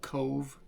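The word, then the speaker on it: Cobh: Um they live in a town called Cove, which is spelled C O B H in Gaelic.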